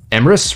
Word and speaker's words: Emrys: Oh, Emrys rhymes with Abyss.